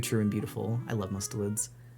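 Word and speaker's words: mustelids: I love mustalids. Mustellids. Yeah, I can say that. That's how you say it.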